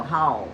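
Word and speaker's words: Haul: H-A-U-L. H-A-U-L. Hall. H-A-U-L. You spell it that way.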